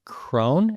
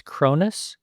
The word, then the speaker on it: Cronis: I believe I pronounced your last name Cone and it's Cronis.